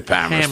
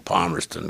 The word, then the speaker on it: Palmerston: And if you're a local, say it right. If you're a local, you say Palmerston.